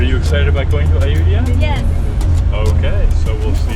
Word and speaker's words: Ayutthaya: also and are you excited about going to iudia yes okay so we'll see you there why don't you say it right we are this is the first of the ruins we're going to see in ayutia uh iut was a city that was existed